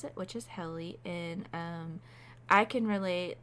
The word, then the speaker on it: Helle: And I'm going to go by the way her family pronounced it, which is Helle. There are some people that said Hella, Heel, like, oh my gosh.